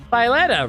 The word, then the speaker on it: Violetta: Violetta rhymes with Bernadetta.